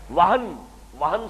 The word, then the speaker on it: وہن: یہ واو ہا اور نون ہے، ہمارے ہاں زیادہ لفظ مستعمل وہم ہے، اور میم اور نون میں تلفظ میں ذرا بڑا قریب ہے صوتی انداز سے، تو سمجھ لیجئے وہم نہیں ہے، وہن سے لفظ توہین، اہانت،